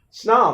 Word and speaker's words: snob: Snob, or here's an example where it ends in B that we do pronounce.